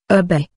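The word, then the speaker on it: şerbet: Sherbet, Turkish serbe, pronounced erbe, is a syrup which can be made from any of a wide variety of ingredients, especially fruits, flowers, or herbs.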